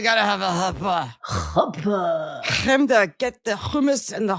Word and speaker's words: Hamda: Chemda.